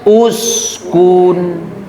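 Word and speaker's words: اسكن: Apabila ada hamzah wasal setelahnya huruf setelahnya berharakat domah, maka hamzah wasalnya dibaca domah. Jadi dibacanya uskun ya, Bu. Uskun karena huruf ketiganya dom domah.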